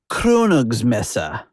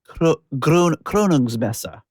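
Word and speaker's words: Krönungsmesse: say kr is pronounced it's more upfront in the mouth. So give it a try. Kronogs messa kronog messa.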